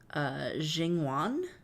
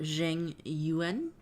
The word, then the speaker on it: Jing Yuan: Erica says, I went hard on grinding the game to get a 5-star character named Jingwan. Pronounced. Oh, Jing Yuan.